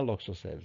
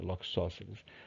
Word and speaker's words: Loxosceles: O abdômen da Loxos, a forma certa de pronunciar aprendi com um amigo meu que é biólogo, muito gente boa, né? Muito gente boa. Eles assim, é Loxosceles, tá? Não é Loxosceles, é Loxosceles.